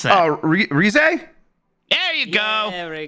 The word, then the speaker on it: Rise: All right, I think I'm at Antonio Morales, who says, "Can you believe it's been over a year since Jeff pronounced Persona 4's Rise as Rise?"